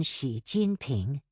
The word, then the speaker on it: Xi Jinping: X, as in Xi Jinping, is pronounced like the SH in Xi.